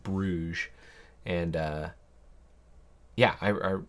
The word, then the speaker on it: Brugge: city called gent gent we didn't go to Brugge or brua I I heard that's actually how you pronounce it but Ang phones pronounce it Brugge and uh yeah I